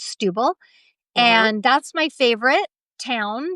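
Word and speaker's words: Setúbal: that as her number one town is it's pronounced Stubil but it's spelled Satubal but it's pronounced Stubil and that's my favorite town so far that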